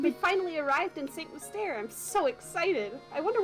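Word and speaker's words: Mystère: Mystere, yeah.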